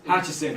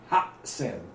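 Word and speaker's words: 八千: What I tell my students when we get to counting thousands, hachisen, hachisen, hachisen, it's kind of weak. But like ha-sen gives it that like clarity and that punch.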